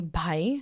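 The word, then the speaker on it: bhai: So like when we say like b h a i by right which means brother or we say by b a i like yeah they're totally different words.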